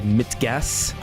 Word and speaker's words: Mit Gas: The album is called Mitgas. And do you have to say it like that? Yeah. Okay, cool. It's German just for so I know in future.